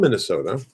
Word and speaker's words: Minnesota: calling the north um they would probably pronounce it more or less like i do minnesota but somebody from minnesota might say minnesota minnesota minnesota okay for some reason i